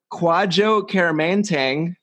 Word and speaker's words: Kwadwo Kyeremanteng: quad jokerman tang they pronounced that right yes nailed it and he